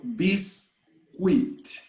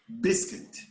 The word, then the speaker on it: biscuit: on there is no beast wheat the u is silent we say biscuit biscuit okay yeah it's